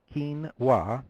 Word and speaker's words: quinoa: list of phonetic spellings we found that only 53% of these adults correctly picked Keen W and you see it